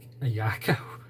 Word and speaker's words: Ayako: you'll know why and now I can actually pronounce her name properly so I apologize for mispronouncing her name all this time but is a a yako a yako and on that bombshell